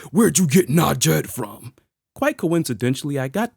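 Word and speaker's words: Najd: Where'd you get Najed from?"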